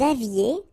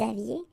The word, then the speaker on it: aviez: Vous aviez, Z at the end, et, aviez, and then liaison. Vous aviez.